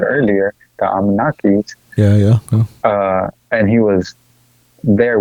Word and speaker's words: Anunnaki: And they treated him just like a regular human being because the Anunnakis, I think I'm saying their name wrong, by the way. Anunnaki. Yeah, Anunnaki, that's how you say it.